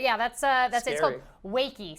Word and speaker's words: Wakey: that's uh that's it wakey so it's wake it's the word wake but with a long e it has a line over the top yeah let us know